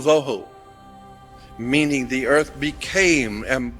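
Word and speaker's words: בהו: Vohu would be V-O-E-W-H-O, tohu, vohu, waste, desolation.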